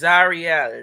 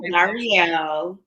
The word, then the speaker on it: Zarielle: That is, now see, it's Zarielle. Is Zarielle? Zarielle. Thank you, Mama. Excuse me for the mispronunciation.